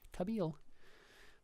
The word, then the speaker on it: Kabil: Pronounced this way, and this is why I had to look up the pronunciation of this, because the I sounds like a long E, so Kabil.